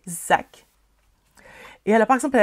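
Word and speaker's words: Szac: C'est comment son nom? Zack. S-Z-A-C. Zack.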